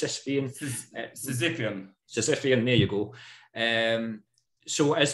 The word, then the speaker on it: Sisyphean: I can't pronounce it. I think it's Sisyphean. Sisyphean, there you go.